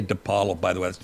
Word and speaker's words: Di Paolo: It's that rotten Depollo Jean. I say Depalo. By the way, that's not how you pronounce my name. It's Depalo. But after everybody's saying Depollo, I have to I just give in.